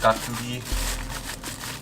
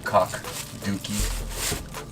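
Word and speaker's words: 깍두기: Korean is pronounced gakdugi. I guess an easier way to remember that would just be kak dookie.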